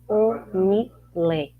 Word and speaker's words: Onilé: Assim mesmo como eu estou falando, se escreve Onilé.